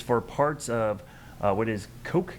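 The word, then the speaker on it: Cocke: parts of what is Coke County, I believe, is the pronunciation there. I don't think it's Cook, but it's C-O-C-K-E, which is the county just on the other side of the North Carolina border.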